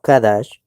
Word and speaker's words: qadash: Hay algo que es importante que la palabra K2 no es K2 sino kadash. Se ve, ya sabemos que no es Kados, sino Kadash.